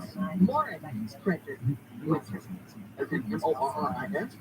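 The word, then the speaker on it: Morice: It is, because there's, and he doesn't pronounce it Maurice, and I know Michael Person knows this. Morris Gift. People want to say it's Maurice Gift, it's Morris Gift.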